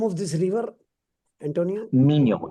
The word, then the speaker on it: Minho: Minho. It's spelled Minho.